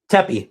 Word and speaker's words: Tepe: Tepee, that's how you pronounce it.